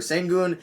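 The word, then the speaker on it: Şengün: are saying i just figured out how to pronounce it it's sengu and upper and sengun they're at nine over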